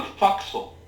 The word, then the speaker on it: forecastle: to be on the forecastle or do you want to be on the decking in front of the forecastle i'll be on the fuxel sir that's the proper pronunciation and where is that